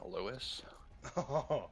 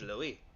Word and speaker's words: Louis: One of the shipmates says, that's a French ass name, Lewis. It is actually Louis. pronounced Louis. But Ah.